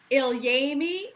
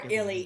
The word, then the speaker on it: ilyAIMY: ilyAIMY or ilyAIMY. ilyAIMY? Both are acceptable. It's like aluminium.